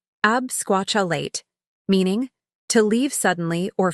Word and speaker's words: absquatulate: that five times fast word number eight absquatulate pronunciation absquatulate meaning to leave suddenly or flee ever bailed